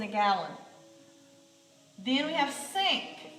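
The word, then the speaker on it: cinq: gallon then we have sink this is five that's a cue on the end cease set that's seven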